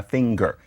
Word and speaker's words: finger: a singer and a finger now the difference is that in one of those cases you are actually annunciating an n and a g and so a finger